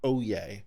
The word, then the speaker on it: Oyez: from oh yay that's oh why easy it's pronounced oh yay in case you ever want to know how it's pronounced oyez oyez oyez all